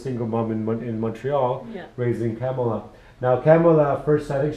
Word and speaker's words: Kamala: Kamala, I have to pronounce Kamala.